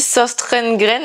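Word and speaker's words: Søstrene Grene: chez sauce trainé grainé je suis la seule je crois à prononcer ce magasin comme ça tout le monde dit sauce train grain un truc comme ça mais bref moi je prononce toutes les lettres ils ont des des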